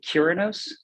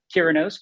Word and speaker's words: Curinos: from the south so i say kyranos like curious instead of purenose okay i think i've heard it pronounced by way but kiranos curious uh and what